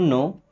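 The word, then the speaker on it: know: I don't नो। दोस्तों आई means होता है मैं। डोंट मींस नहीं नो। अब यहां पे के और डब्ल्यू साइलेंट है।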